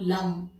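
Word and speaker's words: लं: दिक्कत है तो आप लम मंत्र का उच्चारण कर सकते हैं अगर ल लम को ल और उसके ऊपर अंक की बिंदु इंग्लिश में कहेंगे एल ए M right ma'am बिल्कुल और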